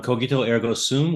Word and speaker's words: cogito ergo sum: His hard G on cogito ergo sum was very good.